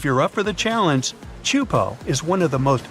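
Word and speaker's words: Teahupoʻo: all the name itself is a mouthful is pronounced chupo and it means broken skulls in tahan yeah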